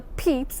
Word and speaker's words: Pepys: Samuel Pepys, it normally pronounced the Pepys, was the son of a London tailor.